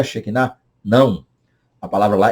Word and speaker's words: Shekinah: Que Shekinah, ou Shekhinah, como alguns costumam dizer, é a presença de Deus que, às vezes, não sentida, nem vista visivelmente, está acontecendo.